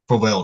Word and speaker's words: Provel: Louis got their own style of cheese, Provel cheese, right?